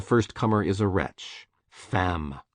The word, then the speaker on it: femme: Femme, woman, rhymes with infâme, infamous.